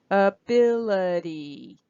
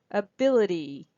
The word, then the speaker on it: ability: the first I ability so here's the schwa and this I is also goes down to a schwa and the don't forget the Y that's also a vowel sound but it's an e sound so that's a secondary stress and listen also how this T goes down to the fast D sound ability ability ability ability